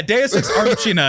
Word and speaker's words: deus ex machina: And you didn't tell me you didn't know how to pronounce it. Say it again. Whatever. Yeah, Deus Ex Machina.